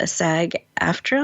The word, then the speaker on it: SAG-AFTRA: She is a proud member of SAG-AFTRA. I'm not sure if I'm pronouncing that.